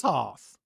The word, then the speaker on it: hearth: Sounds like heart with a Okay, I've been wrong before and I'll be wrong again.